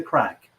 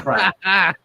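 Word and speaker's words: craic: regular Irish greeting when you meet your friends is, how's the crack? Or what's the crack? Wow. I love that so much. Yeah. This is great. This is such a good day. The word is spelled C-R-A-I-C within the Irish vernacular, but it's just common word for fun, and it is a regular Irish greeting.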